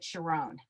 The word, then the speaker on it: Sharon: was named Sharon, but the rabbi pronounced it Sharón.